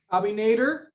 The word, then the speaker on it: Abinader: Is that how you pronounce the last? Abinader.